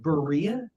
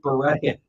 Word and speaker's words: Berea: the name is it Berean Berea so it's like diarrhea it rhymes with diarrhea and that's honestly folks